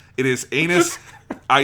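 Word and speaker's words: Ainus: her name it is anus i it's it's a-i-n-u-s but it is just in japanese it's just anus her name is captain anus what are you laughing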